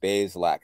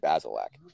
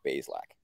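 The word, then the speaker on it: Bazelak: this but very important bay's lack i think it's one i think it's two syllables too so so we're going to get that right i've been getting it wrong the whole time i've been saying basil lack it's bayes lack bay like bathe like bay uh what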